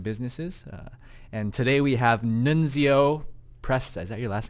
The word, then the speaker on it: Nunzio: We'll go with Nunzio.